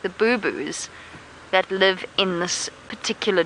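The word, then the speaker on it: boubou: It's spelled B-O-U rather than B-O-O. So not like a boo-boo that you get when you fall over and hurt your knee.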